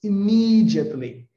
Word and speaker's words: immediately: The authorities immediately, né? Uma dica para vocês aqui de pronúncia, né? Immediately, immediately. Onde é que está a sílaba tônica? Imi.